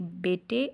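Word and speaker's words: بیٹے: आगे है बच्चों शाबाश बेटे और खुशहत बनो, शीन अलिफ शाह बे अलिफ बा शीन शाबाश, बे ये टे बड़ी ये टे बेटे अलिफ और और, हे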